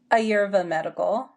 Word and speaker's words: Ayurveda Medical: No, it's Ayurveda medical.